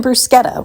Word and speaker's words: bruschetta: This is not bruschetta. It's not even bruschetta, which is another way to pronounce it.